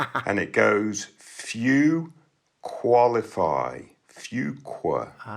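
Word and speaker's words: Fuqua: Well, they have this new quirk because they're a little bit frustrated that their candidates aren't able to pronounce Fukqua. It's fua.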